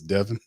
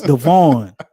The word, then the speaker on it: Devon: And KT says it's Devon equals Devin. No, it's Devon. DEVO. Let's sound it out like Tasha said. What does VON say? Can somebody say it for me? VON. Is that Vin? DC's giving pronunciation. Is that Vin? Good No, Lord. that's Vaughn. DC is VON is Vaughn.